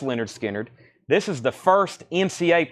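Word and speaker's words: Lynyrd Skynyrd: That's on the Leonard Skinner, pronounced Leonard Skinner.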